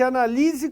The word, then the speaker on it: analise: Por exemplo, quando eu falo na A, peço que se analise com cuidado o material. Esse analise, ele tem acento? Vamos pensar? Analise a sílaba tônica é o li, né?